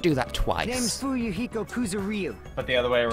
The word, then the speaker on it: Kuzuryu: The last 3 letters of that name are not 2 syllables. Kuzuryu. It's a compound syllable in Japanese. Please tell me that they point out to the voice actor that his name isn't Kuzurayu.